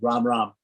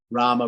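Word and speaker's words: राम: hello to someone is ram ram ram ram of course is rama rama in hindi in the hindi pronunciation they dropped the end the short a at the end of the a the rama uh so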